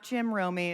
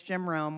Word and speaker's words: Jim Rome: the guy's name wrong it's not jim romy it's jim rome whatever his sports guy